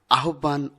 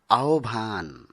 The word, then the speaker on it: আহ্বান: অনেকেই আমরা আহ্বান উচ্চারণ করে থাকি, যা ব্যাকরণ সিদ্ধ নয়। সঠিক উচ্চারণ হবে আহ্বান।